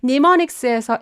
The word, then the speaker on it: mnemonics: 이게 무슨 얘기냐면 mnemonics에서 M이 silent 묵음 처리됐다라는 얘기입니다.